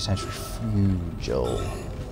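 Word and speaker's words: centrifugal: shape of it it's Cent Frugal in nature and that is actually Cent Fugal it's a soft G not like the hard G in spurg for example I've spoken about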